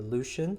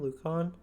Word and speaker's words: Lucon: of the northern Empire Emperor Lucian I think his name lucon whichever way you pronounce it um I'll say lucon just to keep things simple so we are going